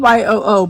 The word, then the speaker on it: Yoo: It's spelled Y-O-O, but it's yo.